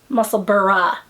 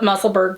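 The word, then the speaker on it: Musselburgh: of the muscle burrows muscle muscle burra gotta say it right i have to think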